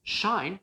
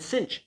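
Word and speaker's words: sinh: times sine of alpha so i also used shine that's an alternative pronunciation shine is sometimes used and cinch is sometimes used so there's not really a big consensus among mathematicians and physicists and engineers people sometimes use shine sometimes cinch it's it's kind of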